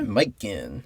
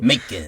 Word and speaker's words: Macon: Macon. I always pronounce it Macon. Macon? Like bacon.